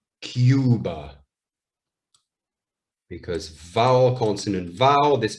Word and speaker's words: Cuba: survive cube but now remember only the e is silent so where in spanish they say cuba in english we say cuba because vowel consonant vowel this becomes the capital